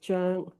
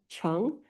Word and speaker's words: Cheng: And the Chinese pronunciation of it is Zheng, but it's a difficult enunciation. And so most people will do the anglicized one, Cheng, but anything goes.